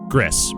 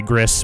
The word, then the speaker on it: Gris: Welcome to Gris. This is the pretty watercolor game, right? Yes, it totally is. I've been told it is pronounced Gris in the traditional Spanish.